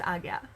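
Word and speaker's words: Ajna: But it's pronounced Agya. At least that's the pronunciation I was taught.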